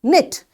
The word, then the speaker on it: knit: Knit. Knitting. So this K is silent.